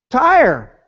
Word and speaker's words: Tyre: Rhymes with fire. Tyre.